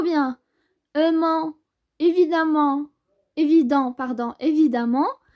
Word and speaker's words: évidemment: Donc, on ajoute ment, mon, redoutable, redoutablement, ou bien aimant, évidemment, évident, pardon, évidemment, ça se prononce amant, donc évident.